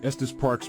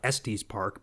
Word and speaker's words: Estes Park: That's pretty cool because it actually knew how to pronounce Estus Park. You know, I even hear people in real life typically who are from out of town, they call it Estes Park, but the AI actually knew how to pronounce it. So, that's pretty cool.